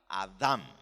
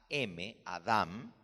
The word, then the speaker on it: Adam: Y con el acento en la última sílaba, Adam. En inglés lo escriben correcto, A-D-A-M, Adam, pero lo pronuncian Adam, con el acento en la primera sílaba.